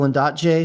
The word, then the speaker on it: Ondaatje: There's a great section in The Conversations, which is a collaboration between the novelist and poet Michael Ondaatje, who wrote The English Patient, which was just a weirdly very profound book for me.